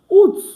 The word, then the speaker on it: août: Août. Août with an accent on the U. Août. So normally we don't pronounce our T at the end, but this is an exception.